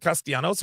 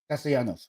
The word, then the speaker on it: Castellanos: Is it Castellanos or Castellano? Castellanos with the S at the end.